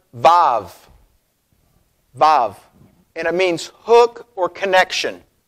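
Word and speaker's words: ו: Now, the vav is pronounced va in Hebrew, like vav, okay? Like a valve, vav.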